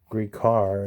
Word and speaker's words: Gricar: And there's ways to pronounce his name. Ray Gricar is the way most people pronounce it.